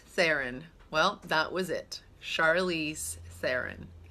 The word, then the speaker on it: Charlize Theron: How to pronounce Charlize Theron. Well, that was it. Charlize Theron. Charlize Theron.